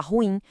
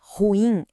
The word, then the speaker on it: ruim: Por exemplo, a gente fala ruim, mas o correto é ruim, é uma oxítona.